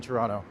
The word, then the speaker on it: Toronto: The most important thing you do with your life is never pronounce the second T in Toronto.